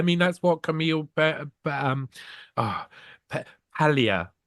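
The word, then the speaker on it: Paglia: that's what Camille um Pia you don't pronounce the G um Camille P Pia says you know they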